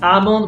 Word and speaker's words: almond: so again just like almond we don't pronounce the l is silent okay doubt doubt so